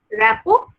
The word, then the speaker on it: rapport: হ্যাঁ, ব্র্যাকেটে লিখে দেবে র্যাপো এস্টাবলিশমেন্ট। র্যাপো স্পেলিং তোমরা নিশ্চয়ই জানো, না জানলে আমি একবার বলে দিই। RAPPORT, টিটা কিন্তু সাইলেন্ট থাকে। ওকে, র্যাপো আর টিটা সাইলেন্ট থাকে।